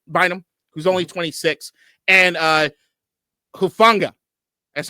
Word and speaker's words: Hufanga: which is Cameron Bynum, who's only 26, and Hufanga. That's how you say it, right? Hufanga. Yeah, you got it. Hufanga.